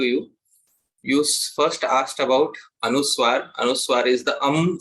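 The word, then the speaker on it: anusvara: see here Shri rupam this um is anuswar it is called as anuswar it is pronounced as um and it has to have a slight slight very slight nasal touch so it has to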